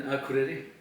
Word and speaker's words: Akureyri: In north of Iceland, in Akureyri. That is correct pronounced, or? Yes, more or less. We are in Akureyri, which is of course